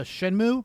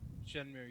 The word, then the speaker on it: Shenmue: Uh, Shenmue, is that how you pronounce it? Shenmue.